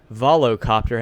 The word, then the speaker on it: Volocopter: Bell big helicopter manufacturer vilasa Copts Arvelo the how do you say that whoa copter volocopter has an 18 rotor